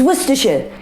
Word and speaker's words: Worcestershire: It's Worcestershire. Yeah, so like at the end of the word, it's like I've run out of energy. Instead of saying Worcestershire, you go, Worcestershire, I'm so tired. That's how you say it.